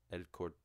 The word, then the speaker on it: El Cortijo: them credit ruiz launched el cortijo pronounced el corte and meaning a farm